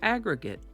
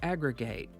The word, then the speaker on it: aggregate: Today's word is aggregate or aggregate. You might hear it pronounced either way, and it can be a noun, a verb, or an adjective.